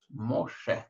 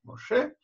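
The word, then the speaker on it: משה: такая стоит с правой стороны буква называется шин и читается поэтому ими мы читаем мокши моше моше пропуски моисей почему по-русски моисея потому что библия пришла в к славянам через дорический перевод вот а при греческой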